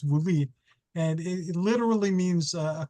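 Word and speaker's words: βουλή: Greek it's called a vuli which some people pronounce v b o u l e but it's vuli and it literally means a council so I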